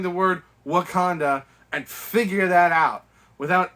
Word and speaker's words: Wakanda: age of ultron um tries to pronounce the word wakanda and he says wakanada and it's like i